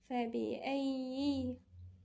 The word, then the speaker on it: فبأي: فبأي، الياء هنا في 2 مشدد يعني ساكن ومتحرك، المتحرك مكسور. فبأي حديث بعده يؤمنون.